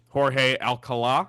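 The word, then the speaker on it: Jorge Alcalá: Last thing we'll get to, late night trade, Jorge Alcala, I believe is how you pronounce it based on the accent at the end.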